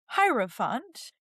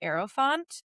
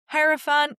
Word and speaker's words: hierophant: So, it's pronounced hierofant. You'll occasionally hear slight variations of it. Sometimes I even pronounce it aeropant, but hierofant is the way that most people pronounce it in English.